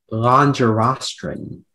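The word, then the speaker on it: longirostrine: Speller 117, your word is longerostrin. Excuse me, can you repeat again? Longerostrin. Longerostrin. Can I have the alternate pronunciations?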